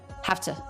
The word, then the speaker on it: have to: we actually change the V to the F have to have to have to so it becomes f t schwa ha have to have to have to have to have to low in Pitch said quickly simply without much mouth movement have to have to